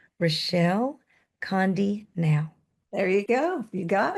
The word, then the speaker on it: Rechelle Conde-Nau: And I'm going to try to pronounce her name correctly. Rechelle Conde-Nau.